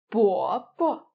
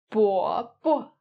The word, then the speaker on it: 伯伯: As when you pronounce the neutral tone, you lose this stress. The next one we have, 伯伯, 伯伯, which means uncle, especially used to address an older man of one's father's generation.